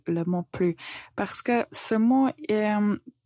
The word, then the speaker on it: plus: plus souvent plus souvent donc on ne prononce pas la lettre S on dit plus une chose qu'il faut